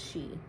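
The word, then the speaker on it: sidhe: she she it's c-i-d-h-e it's pronounced she c-i-d-h-e mounds also called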